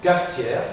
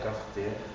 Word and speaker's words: cafetière: d'une seule consonne d'accord dans ce cas je n'articule pas par exemple ademain ademain ad promenade promenade cafetière cafetière la aide demain la aide promenade la aide cafe fetière je ne l'articule pas d'accord parce que va